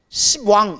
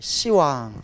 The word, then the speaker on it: 시왕: 그래서 원래는 10분이 앉아 있어서 뭐라고 해야 돼요? 십왕 이래야 돼요. 시방. 근데 못 같아요? 욕 같죠? 이런 시방. 그래서 뭐라고 발음해요? 시왕이라고 발음하는 거예요. 시왕.